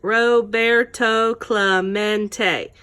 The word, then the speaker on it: Roberto Clemente: Roberto Clemente was his name and this is pronounced Roberto Clemente as if to introduce himself Roberto smack to